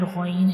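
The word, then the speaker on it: غين: Ain is pronounced from the middle part of the throat, and ghain is pronounced from the upper part of the throat.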